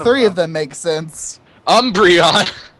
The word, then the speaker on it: Umbreon: 50% the Duck Hunt dog I am 50% uberon I am 50% entrance way I am 50% best pony none of these make sense actually like three of them make sense Umbreon it's pronounced Umbreon it's the Pokemon Pokemon so